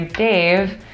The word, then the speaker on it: D4VE: Now, Dave is spelled D4VE. Yes. So in case you're Googling it and you can't find it, it's D4VE.